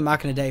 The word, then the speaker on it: Machina Dei: doing right now is the machina dei 4 or the machina day 4 I think I did a review on this before and I got the name wrong so it is the MOC in a day for it is a